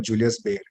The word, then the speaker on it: Julius Baer: our audience who want to learn more about Julius bear I hope I've got the pronunciation right Julius Bear right yes yes uh